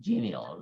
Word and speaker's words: genial: Okay, so it's better to pronounce genial rather than denial. Well, some people pronounce it, but I prefer the other way, right?